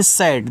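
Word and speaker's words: sad: का मतलब शुरू करना एस ए डी इसको पढ़ते हैं सेड देखो जब दो कंसोनेंट्स के बीच में ए हो तो ए का उच्चारण करते हैं ऐ की मात्रा के रूप में तो इससे आपका छोटा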